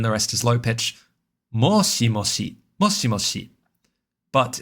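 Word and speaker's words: もしもし: But, it's worth noting that because it's regularly used as a question, similar to hello in English when talking on the phone. In Japanese uh questions are often marked with a slight rise in intonation at the very end. So, it's worth noting that you'll regularly hear moshi moshi said as like moshi moshi e with that e on the end to sort of uh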